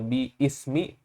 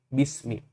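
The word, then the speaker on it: بِسْمِ: Kita bukan membacanya biismi, tapi kita membacanya bismi.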